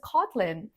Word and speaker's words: Kotlin: Stress is on the first syllable, and it is also, just like Java, named after an island. So you pronounce it as Kotlin.